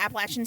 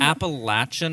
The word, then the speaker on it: Appalachian: I went to college at Appalachian State University in Boone. It's Appalachian, not Appalachian. Yeah, if you say Appalachian, I'm going to throw an Appalachia. Okay, because I've said it wrong before.